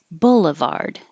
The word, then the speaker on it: boulevard: July 11th and we started with Boulevard and the vowel is uh like took so remember that um here it's not ooh where your tongue is very high in the back and your lips are rounded ooh it's relax your